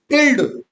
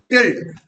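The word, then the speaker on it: tilde: टिल्ड। ये सांप दिख रहा है। इसको क्या बोलते हैं? टिल्ड। टिल्ड। ठीक है? क्या प्रोनन्सिएशन करोगे आप? टिल्ड।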